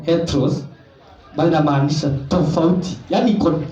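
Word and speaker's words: ἕτερος: Hivyo tu inatamkwa heteros, bali inamaanisha tofauti.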